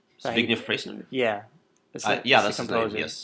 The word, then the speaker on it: Zbigniew Preisner: It's hard to pronounce. It's Zbigniew Preisner. Zbigniew Preisner.